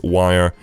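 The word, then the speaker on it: Wyre: connection over to wire i've been pronouncing it weird I've never been corrected it is wire and it's also got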